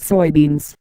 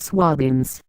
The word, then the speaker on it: soybeans: It's pronounced soybeans, not swabins.